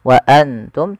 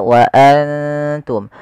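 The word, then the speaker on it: وأنتم: Bukan hanya sekedar wa antum tapi dia wa antum. Wa antum ditahan.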